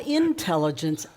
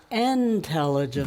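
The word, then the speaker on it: Entelligence: Not intelligence, intelligence. The new Master's Life 13 is out. Yeah. It is called Intelligence. It's spelled with an E rather than an I at the beginning.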